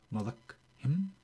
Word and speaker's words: Malakhim: Malakhim is the way it's pronounced.